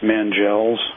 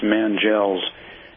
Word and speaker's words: Mangels: name of uh Francis mangels I I keep on mispronouncing his name but it's Francis manels and you know he's